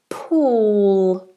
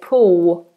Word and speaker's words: pool: L at all so many of my students will say pull pull and do a w or full full and they won't put the tongue to the roof of the mouth but it's very important that you put that tongue tip up full pool okay and